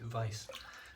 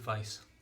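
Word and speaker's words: Weiss: Also, I just want to give another shout out to, I don't know your name, Shaved Vice, W-E-I-S-S, not Vichy Shaves, Shaved Vice. I think that's how you pronounce it.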